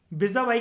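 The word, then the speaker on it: vis-à-vis: ये किसी भी तरीके से माइनॉरिटी को ज्यादा एडवांटेजियस पोजीशन में with respect to majority, विजा वाई का मतलब होता है, इसको प्रोनाउंस करते हैं दोस्तों जिसको नहीं पता, विजा वाई, और विजा वाई का मतलब होता है इन कंपैरिजन टू।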